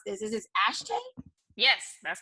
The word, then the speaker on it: Ashtae: Taylor woods who is CEO of now humbly pronounce this is this ashtray yes that's correct so tell us like oh